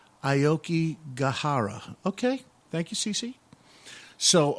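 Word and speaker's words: Aokigahara: the cusp of wanting to end everything it's pronounced ioki gahara okay thank you CeCe so um but it's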